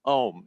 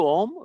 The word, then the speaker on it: Om: say how to pronounce ohm it's simple you start with taking a deep breath you open your mouth ah you don't have to change anything just half close the mouth ah becomes ooh and fully close the